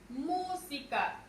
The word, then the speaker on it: música: Música. Tenemos aquí música. Su mayor fuerza de voz es mu.